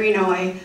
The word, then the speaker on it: Inouye: Phonetically, it is E-N-O-W-A-Y. Inouye. That was the Washington, D.C. version of how to pronounce his name correctly.